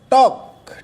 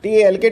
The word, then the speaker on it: talk: Next is talk. T-A-L-K. Talk. L is silent.